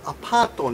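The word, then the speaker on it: アパート: Watashi wa apato ni sundeimasu. Notice that the pronunciation of apartment becomes apato.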